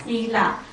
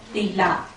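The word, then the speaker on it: sīla: second is called Sila in Bali it is called Sila but burmish people we pronounce as Thea okay so what is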